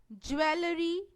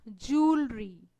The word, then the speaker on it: jewelry: Many people speak it as jewelry or something else, but its correct pronunciation is jewelry.